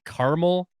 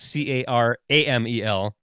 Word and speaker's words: Carmel: Because it's Carmel. It's not Caramel. Caramel. It's just Carmel.